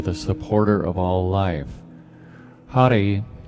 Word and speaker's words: Hari: supporter of all life Hari h-a-r-i that rolled R you can say Hari if you'd like Hari is the power